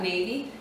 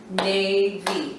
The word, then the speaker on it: navy: If you clap out navy, navy. Hear how the A is the last sound in that first syllable? That's why it says its name.